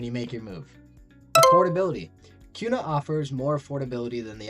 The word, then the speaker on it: Kuna: And it's pronounced Kuna, I know, because I'm not from Idaho.